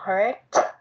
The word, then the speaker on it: hurt: Cái từ trái tim và cái từ đau đọc giống giống nhau, nhưng mà mình để ý tí xíu thì sẽ phân biệt được trái tim bữa mình đọc là heart, còn làm đau là hurt, và bữa nay mình